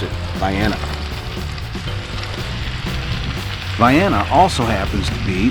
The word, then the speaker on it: Vienna: Yep, that's how they pronounce it, Vienna.